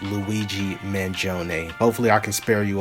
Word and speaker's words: Luigi Mangione: at you guys with an update on the Luigi mangi mangion I completely butchered his name but it is pronounced Luigi manone hopefully I can spare you all now from